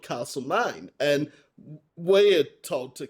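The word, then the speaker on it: Castlemaine: So what do we call Castle Mine here in Victoria? Castle man. Castle magnet. Yeah, well that's what I thought, but obviously it's castle name.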